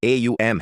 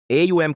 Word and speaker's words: ॐ: AUM का उच्चारण अ, उ और एम ध्वनियों से मिलकर होता है।